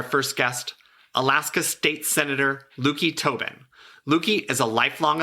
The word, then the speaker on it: Löki: It's L-O with an umlaut, K-I. And what we hear people often say is Löki, but you phonetically spell it a lot. I've heard you correct people a lot. The correct spelling is Löki. The correct pronunciation is Löki, and it's kind of a silly story.